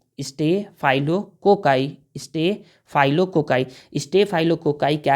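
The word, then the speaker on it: staphylococci: होता है तो देखिए इसका नाम होता है stay फाइलो cocci stay फाइलो cocci stay फाइलो cocci stay फाइलो cocci क्या है एक बैक्टीरिया है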